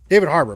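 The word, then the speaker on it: David Harbour: Uh David hat her hater hater, is that how you pronounce that for always? Harbor. Never heard of him. David Harbor.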